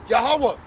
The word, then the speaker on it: Yahawah: Yahawah, and the name of his only begotten son, Yahw. Yahawashi. Okay. The real name of the father is Yahawah. Yahwa. Yahweh.